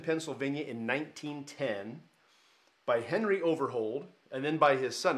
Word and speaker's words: Overholt: by his son now it was over hold not holt the anglo new way of pronouncing that is over holt but when they started it was overhold well then his son took